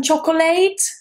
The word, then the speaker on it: chocolate: Would you like some chocolate or chocolate? No. Chocolate. Chocolate. There are just two syllables in English.